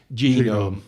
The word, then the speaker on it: Genome: So it's pronounced Genome.